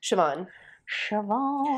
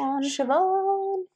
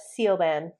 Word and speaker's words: Siobhan: you know this one Siobhan Siobhan not seal band no not seal band